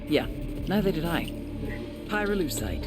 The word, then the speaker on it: pyrolusite: him you know what pyroluside is right yeah neither did i hyruleusite key syllable pyro by the way is